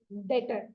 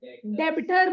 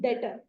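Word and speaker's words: debtor: में क्या बोलते हैं डेटर डेबिटर नहीं बी साइलेंट होता है अपने बोलते है डेटर ठीक है तो अपने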